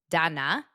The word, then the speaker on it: Dana: Number one, my name is pronounced Dana and spelled Dana.